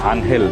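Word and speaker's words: Ángel: মানে উনার নামের আগে যে এঞ্জেলটা লাগানো আছে যেটা আনহেল উচ্চারণ করি আমরা এটার পেছনে আসলে একটা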